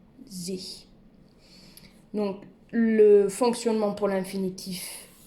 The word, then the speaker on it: sich: Essayez de retenir, pour faciliter la prononciation, le pronom ich avec un S devant, sich.